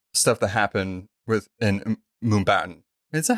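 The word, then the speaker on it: Mumbattan: how you say it it's Mumbai and Manhattan yeah okay yeah I keep wanting to say Mumbai but I'm like no put baton at the end of it but it's hard to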